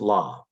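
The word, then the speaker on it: לָא: But Aramaic didn't do the Canaanite shift. They don't dance. They were Wesleyans. And so it's la.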